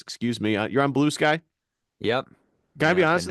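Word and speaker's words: Bluesky: You're on Blue Sky? Yep. Can I be honest with you? Been pretty active over there. I thought it was Blue Ski, not Blue Sky at I first.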